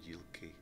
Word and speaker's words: Yilki: Interesting that the G's are pronounced as J's, essentially, Yellon and Yilki.